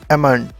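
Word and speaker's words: almond: बादाम को इंग्लिश में एमंड कहते हैं। एमंड। इसमें एल साइलेंट है, उसको आप प्रोनाउंस नहीं करते।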